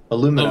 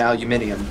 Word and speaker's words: aluminium: it's just weird because that's the difference between how us people pronounce aluminum aluminum and aluminium yeah yes yeah it's